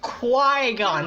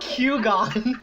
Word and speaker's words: Qui-Gon: There's no key in there, come on. God damn, there's a Q in there. It's Qui-Gon, not Q-Gon.